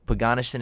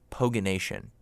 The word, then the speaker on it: Poganation: Is that what it is, Poganation? It kind of sounds like a garnish that you'd put on some pork. No, Poganation is not how you say it. It's Poganation.